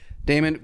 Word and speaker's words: Daymond: I'm The Shark Daymond, but my name is spelled like Raymond, but with a D. Perfect. Daymond, got a little gift for you here.